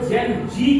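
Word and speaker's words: Gen Z: generation जेड को जेन जी क्यों कहा गया, तो अमेरिकन इंग्लिश में जेड को जी प्रोनाउंसिएट किया जाता है, जी, इसीलिए उसको शॉर्ट में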